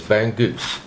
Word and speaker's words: bangus: a stuffed no fish the way i pronounce it is bang goose and i know that's it's so beautiful that's the american accent i know all my